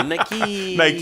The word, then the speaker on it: Nike: I almost put like Nike with like 5 E's after it just to help. Yeah, to just read it out phonetically. Nike.